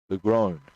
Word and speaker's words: Legrand: Legrand. It's actually pronounced Legrand. I was wondering if it was Legrand. Oh, Legrand. Not grown. Glone.